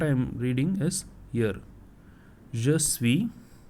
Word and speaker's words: je suis: Je suis. Now I am not just using this last letter S. Je suis. SUI is what I pronounce.